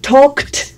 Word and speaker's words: talked: I talked. Sigue con la L, pero no se pronuncia. I talked, you talked, he talked, she talked, it talked, we talked, you talked. Y así suena. Talked, talked, talked.